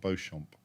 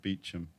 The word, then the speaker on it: Beauchamp: words like um uh Beacham square is about Beauchamp so you'd never know that you know that word Beau champ but they pronounce it Beacham oh my God what's